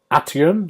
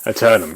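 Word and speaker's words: Aeternum: it's uh new world atum atum is it how you say it how do you say it um atum aternum good um so this is uh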